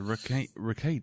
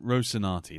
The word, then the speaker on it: Rocinante: Yeah, the Ricade, isn't it? The Ricade? I can't remember. I can never pronounce it. The Tachi? No, the Rocinante. Rocinante, that's it.